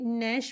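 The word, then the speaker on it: gnash: ए एस एच को ग नेश पढ़ते हैं नेश यहां पे जी साइलेंट है दांत पीसना नेस का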